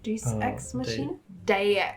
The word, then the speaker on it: Deus Ex Machina: possible, and I'm gonna embarrass myself with this pronunciation. How do you say Deus Machina? Deus Ex Machina?